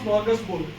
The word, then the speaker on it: smorgasbord: It's pronounced smorgasbord.